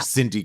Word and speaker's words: Cindy: know what it is I know cuz you want to say KY because it's spelled with the c I always want to say KY strawford but it's actually Cindy Crawford I like KY swaer